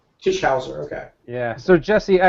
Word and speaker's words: Tischauser: Tisher. Tisher.